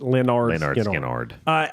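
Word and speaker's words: Lynyrd Skynyrd: Leonard Skinnard. I probably would have put that. Pronounced Leonard Skinnard.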